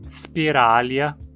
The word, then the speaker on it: Spiralia: Praticamente sempre que você encontrar um nome terminado em ia, você vai pronunciar como uma proparoxítona, porque esse ia é sempre curto e vai estar na penúltima sílaba. Então o mesmo se aplica aos nomes spiralia, cnidária, bilatéria, ambulacrária, deuterostômia, protostômia.